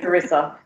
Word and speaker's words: Carissa: Rogers welcome Carissa journey yeah that's how you pronounce it yep Carissa lovely Thank You Joanie I'm so excited to